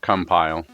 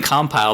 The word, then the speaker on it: Compile: about pronunciation then right we sound like we're all saying compile but I've heard some people say compile right like the verb right yeah like uh like if you're compiling code right I've heard people